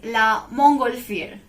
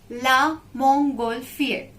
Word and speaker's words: la montgolfière: Hot air balloon is la montgolfière. Repeat after me. Concentrate on the spelling and pronunciation. It's needed, right? La montgolfière.